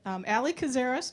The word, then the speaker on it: Allison Kazaras: I keep saying her name wrong. Allison Kazaras.